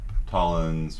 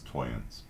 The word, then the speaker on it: Tollens: And modus Tollens, which I've heard some people pronounce Toyens. I'm just going to call it Tollens because that's how my professor spoke it.